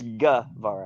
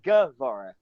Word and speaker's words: Guevara: It's Guevara. It's spelled G-U-E. It's Gue. But it's spoken Guevara.